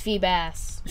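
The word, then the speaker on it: Feebas: A Phoebus? I can catch a Phoebus? No! That's how you say it. It's Phoebass. You call it Phoebus? Well, there's not two S's, so why would you call it Phoebass?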